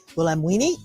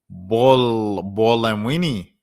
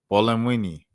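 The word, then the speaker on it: Buolamwini: Joy Bamwini on the Bolamwini. Bolamwini. Joy Bolamwini. All right, there we go. Joy Bolamini. All right. Dr. Gloria Washington, Dr. Joy Bolamwini.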